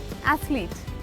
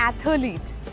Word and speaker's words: athlete: Please clip कर दीजिए, हम मुंह बहुत ज़्यादा खोल देते हैं। इट्स एथलीट, नॉट एथलीट, इट्स एथलीट।